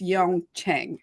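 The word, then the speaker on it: Yeong Cheng: to pronounce their name so I'm going to spell it it's uh y-e-o-n-g and then the next word is c-h-e-n-g so I think it's Yong Chang can you repeat that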